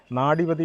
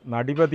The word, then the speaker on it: നാടിപതി: സ്ഥലത്ത് എത്തിച്ചേർന്നിരിക്കുകയാണ് അതൊരു ഗോശാലയാണ് നാടിപതി ഗോശാല എന്നാണ് ഈ ഗോശാലയുടെ പേര് ഈ ഗോശാലയുടെ പേരുമായി ബന്ധപ്പെട്ട ചെറിയൊരു തീരത്തുണ്ട് കേട്ടോ വിപിൻ നേരത്തെ ഇൻട്രോ പറഞ്ഞ സമയത്ത് നടിപതി എന്നാണ് പറഞ്ഞത് ശരി അതല്ല നാടിപതി എന്നാണ് അതിന്റെ ശരിയായിട്ടുള്ള ഉച്ചാരണം അപ്പോൾ അങ്ങനെ നമ്മൾ ഈ